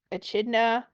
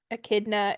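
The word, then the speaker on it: Echidna: woman's name so yeah it's like a chid a chna a is how a kidna it looks like a chna if you look at how it's spelled it's spelled with a e um but yeah a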